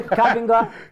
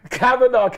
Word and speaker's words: Kavanagh: Kavinga? Kavanagh.